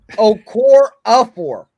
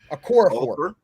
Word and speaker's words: Okorafor: Okafor. Let's just say Okafor. That's not Okafor. That's Okarafor or some shit. No, that's Okafor. That's how they say it on TV. That's Okafor. I don't give a fuck how they say it. I'm trying to say how it's spelled. Okor4. Okorafor. Okorafor. Okor. Not okra, motherfucker. Okora. Okafor. I like some okra though. I ain't gonna hold you. That R silent. Damn, Loon.